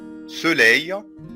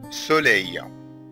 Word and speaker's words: soleil: Le soleil ناخد بالنا من ال EIL تنطق أي. soleil, soleil, le soleil.